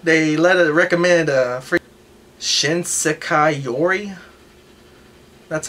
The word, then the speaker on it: Shinsekai Yori: At least they let it recommend free Shinsekai Yori.